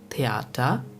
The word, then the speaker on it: Theater: Now the last letter combination is th, which is simply pronounced like the English letter T. We have the example of Theater, which means theater.